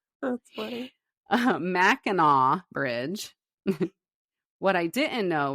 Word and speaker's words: Mackinac: The drive would take like 6 hours, and we'd cross the Mackinac Bridge. Did you almost say Mackinac? I literally almost said Mackinac.